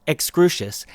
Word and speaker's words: Excrucius: Souls by Excrucius, and that's pronounced Excrucius, as you can hear straight from the Dave man himself.